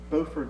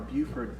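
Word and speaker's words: Beaufort: Are you talking Bowford, North Carolina or Buford, South Carolina?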